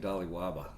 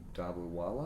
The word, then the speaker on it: Dobliwala: That's not how you say it. Oh. That's how it's I say not it. Dobliwaba. There's no B at the end. The B's at the beginning. It's the Dobliwala?